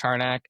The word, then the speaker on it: Harnack: Uh my well my name is Harack. You can just type in the Google the name, but my Instagram is Hack Art, spelled like it sounds, H A R N A C K.